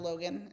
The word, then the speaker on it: Loughin: I'm really trying to make the transition from Facebook to Instagram, but it's just my name, Logan. It's spelled L O U G H I N.